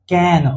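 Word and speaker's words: cane: सी ए एन कैन। लेकिन अगर वही लास्ट में इ लग जाए तो इसका उच्चारण केन।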